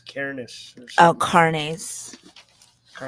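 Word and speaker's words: Cairnes: with the devil Mindy directed by Colin Colin Kars uh I'm probably brother my problem Cameron Kars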